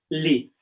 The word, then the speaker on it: les: L-E-S, ça se prononce les. D'accord? Et L-E, ça prononce le. Ya, jadi jangan bingung. Misalnya ini, ça se prononce le. Regardez, par exemple, le boulevard. Les boulevards.